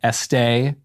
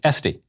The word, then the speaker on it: Esty: First off, when I first saw your name, I was tempted to pronounce it Estee, as in louder, but it is Esty.